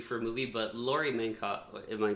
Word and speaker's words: Metcalf: But Laurie Metcalf, am I pronouncing that correct? Metcalf.